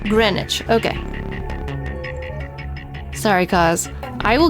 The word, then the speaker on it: Greenwich: For future reference, green witch is pronounced grenwich. Greenwich.